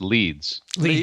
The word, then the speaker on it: Leeds: leeds also in the uk hello which is pronounced leeds yes thank you you got it right vince